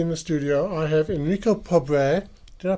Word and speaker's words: Enrico Pobre: Today with me in the studio, I have Enrico Pobre. Did I pronounce that correctly?